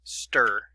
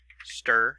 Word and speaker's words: str: So now we also have what is known as a string slice or stir. So we'll put in here nstr equals string slice or stir. So that's the how you can pronounce that.